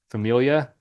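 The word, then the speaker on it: famiglia: La Familia? Familia? But it's got a G in it. Yeah, so just don't pronounce the G.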